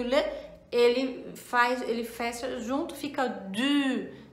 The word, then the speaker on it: le: um D e o le, né? Le, tô falando em português, né? Mas a pronúncia certa é le.